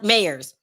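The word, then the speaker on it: Mayers: real name right uh myers because mayors that's how you pronounce it because if someone points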